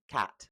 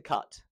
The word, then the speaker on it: cat: We're going to start with the short a as in cat. This is an important sound to start with because so often people will pronounce this sound as an h rather than a. So as the example show here, cat turns to cut, hat turns to hut,